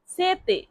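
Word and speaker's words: sete: পিপাসিত এর ইতালিয়ান অর্থ হবে সেতে। এস ইটিই সেতে। টি এর উচ্চারণ ত এর মত হয়। তাই এটা হবে সেতে।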